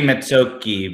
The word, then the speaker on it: Mezzocchi: mizachi says yeah yeah it should be mitsuoki because that's italian but we butchered it here so here it is mizashi that's all right yeah